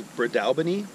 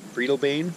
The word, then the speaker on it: Breadalbane: pronounced it terribly wrong the actual way to pronounce it is Brad Albany I is actually pronouncing it Friedel Bain during the video so